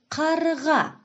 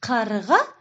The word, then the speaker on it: қарға: Мынау қарға. А вы услышали в слове қарға специфические звуки? Верно, это звуки к, г.